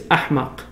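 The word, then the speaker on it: أحمق: The Malays can't pronounce the H in Arabic, so they say for the stupid in Malay is, in Arabic it's ahmaq. The Malays said amak.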